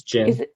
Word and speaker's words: djinn: it because I think it's like a DJINN. And Oh, so it's Jin. it's Jin. It is Jin. So the D Yeah. is silent.